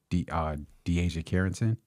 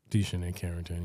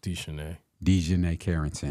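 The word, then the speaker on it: DiJonai Carrington: Then off the bench, you have to battle with De'Asia Carrington. De'Shanae Carrington, yeah. My apologies. Mm-hmm. Can you pronounce that again? De'Shanae Carrington.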